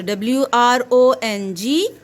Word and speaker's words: wrong: the sound of wr what is the sound of w r it makes r sound the sound of o